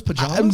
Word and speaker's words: pajamas: Like, were you guys down with those pajamas? The biggest question, I was fine with the pajamas, but like you keep saying it like there's an extra syllable in it.